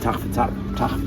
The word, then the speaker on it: Sejm: Tach broke out, but it was modeled on the Polish government. The same. The pronunciation is tricky.